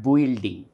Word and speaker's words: building: For example, here we may see it is B-U-I-L-D-I-N-G. So, you may be tempted to pronounce it as building, but it is not building. It is just B here, consonant, E, L, D, E and ng sound, ng sound. So, it becomes building, and that is why it is building.